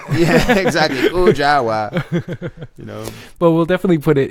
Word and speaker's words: Kujawa: _ Kujawa with the it's just hard to say your name in English accent, 3 syllables. Yeah, exactly. Kujawa.